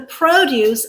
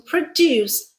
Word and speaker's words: produce: The farmers who produce high quality produce should be fairly compensated. Let's see. Produce, first syllable stressed, is our noun. Yep. Produce, second syllable stressed, is our verb.